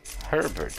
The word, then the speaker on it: Herbert: Herbert, as you may expect, rhymes with pervert, and that's pretty much his entire character.